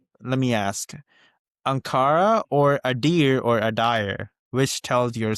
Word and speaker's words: Adire: Adire is not Idere. So it's Adire, Adire, Adire.